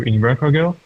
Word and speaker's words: Invercargill: you you saw that it went also to invercargill no no that's how it's pronounced by the way and even the try